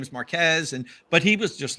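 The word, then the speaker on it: Marques: Verge and you just you just called their hero Marquis not Marquez so for them this is the end of the world like you mispronounced their hero yeah so many it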